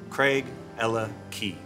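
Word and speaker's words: Craigellachie: but there's a trick think of it as a love story Craig felt for Ella who gave her the key to his heart Craig Ella key celi Keli is one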